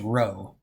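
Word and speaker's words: rho: R in Greek and it's pronounced to row like row row row your boat and that's all it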